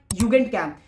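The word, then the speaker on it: Jugendcamp: फिर है हमारी युगेंट कैंप। युगेंट कैंप यानी कि यूथ कैंप। अब युगेंट कैंप मत पढ़ देना। जे की साउंड वाई से प्रोनाउंस होती है जल रही है।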